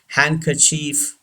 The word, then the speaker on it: handkerchief: Britishers इसको दूसरा जो प्रोनाउंस करते हैं लॉन्ग साउंड में, चीफ को खींचते हैं, वो लॉन्ग साउंड में पढ़ते हैं इसको हैंडकरचीफ. हैंडकरचीफ. और एक स्टाइल प्रोनाउंसिएशन का ब्रिटिशर्स का ये भी है हैंडकरचिफ. हैंडकरचिफ. यहाँ याद रहे कि एन की आवाज़ उस तरह से नहीं आएगी जैसे नॉर्मली न का साउंड है, और आर नॉट प्रोनाउंस्ड. आर भी नहीं प्रोनाउंस्ड होगा यहाँ पे.